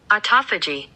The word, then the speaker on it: autophagy: so i noticed that whenever i reach um autophagy what i pose is that is that how to pronounce it autophagy yeah autophagy okay so um i noticed that